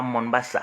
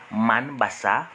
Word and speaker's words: Mombasa: En principe, ce n'est pas Mombasa, c'est Manbassa. Donc, c'est pas Mombasa, c'est Manbassa, puisque ceux